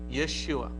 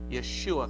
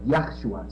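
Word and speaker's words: ישוע: is yes you were right the the proper pronunciation of the word is Yeshua it is your shin Bob ayan Yeshua oh not yahoo ah yes a basil you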